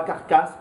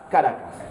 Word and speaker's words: Caracas: Pas Caracas, Caracas.